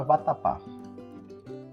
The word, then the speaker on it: vatapá: A palavra vatapá. Maiguaria. Olha aí. Qual é a sílaba tônica de vatapá? Vatapá. A sílaba tônica é o pá.